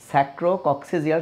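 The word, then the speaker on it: sacrococcygeal: আসলে কক্সিজিয়াল উচ্চারণ হবে স্যাক্রোক্সিজিয়াল টেরাটোমা।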